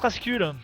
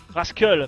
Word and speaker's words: Rascal: Tu fais un peu de la merde, Rascul. Rascal plutôt, parce que Rascul c'est la prononciation française.